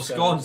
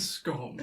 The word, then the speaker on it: scone: Or scones. However you pronounce it. My dear boy, it's a scone. Yeah, A scone. it is a scone, not a scone.